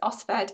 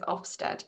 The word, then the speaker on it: OSFED: It's OSFED, and I perpetually mispronounce it as Ofsted, so I promise not to do that.